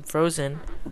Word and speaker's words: Frozean: This is going to be Frozean, or I'll pronounce him Frozen, also known as Cute Angel, versus Luxury.